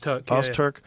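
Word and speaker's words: Öztürk: Ozturk? Ozturk.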